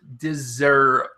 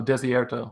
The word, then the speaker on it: Desierto: Next one, I don't know how to pronounce it. Deserto. Oh, Desierto.